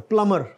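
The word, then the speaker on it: plumber: और आगे प्लमर, B silent है इसमें, प्लमर।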